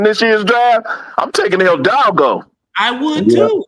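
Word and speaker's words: Hidalgo: year's draft I'm taking Hill Dogo I would too you got say it correctly you gota say dog go yeah trust me as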